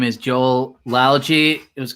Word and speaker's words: Joel Lalgee: who introduce yourself absolutely so my name is joel algy it was correctly pronounced which is awesome i love when that